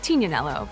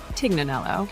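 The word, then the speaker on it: Tignanello: The name the TIG comes from a wine called Tinanelo, but often times it's mispronounced Tiganelloo.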